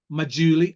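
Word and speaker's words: Maggiulli: by Joe Wiggins just keep buying by Nick mauli and that is the pronounciation that correct one I've got it correct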